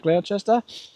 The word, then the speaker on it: Gloucester: We drove up to Drifta from Sydney and they were in Gloucester, I think how you say it, Gloucester.